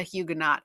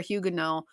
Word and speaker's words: Huguenot: Now, a French Protestant is known as a Huguenot or Huguenot, depends on how you want to pronounce it.